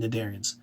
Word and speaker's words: cnidarians: their peripherals and cnidarians Nitta C is silent cnidarians sponges peripheral porous for